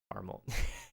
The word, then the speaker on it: caramel: Squishy word person equals caramel. Yeah. I don't know. I know it's not technically like. Well, no, it is spelled caramel. Anyone that ignores the second A is just wrong.